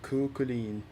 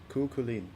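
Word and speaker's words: Cú Chulainn: It's pronounced Kukulin. Kulin? Kukulin. Actually, Celtic spelling is weird.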